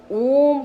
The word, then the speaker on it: ओम: का ध्यान करते हुए फिर अ, उ और म का उच्चारण करें।